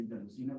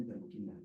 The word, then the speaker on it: interleuquina: ¿Interleucina o interleuquina? Interleuquina. Es interleuquina y solamente en México hacemos interleucina.